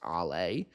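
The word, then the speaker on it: Alès: And judging by how I what little I know about French pronunciation, I'm going to assume that's pronounced Allay.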